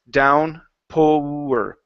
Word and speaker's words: downpour: So here you pushed a little too much on the pour side. So it's downpour.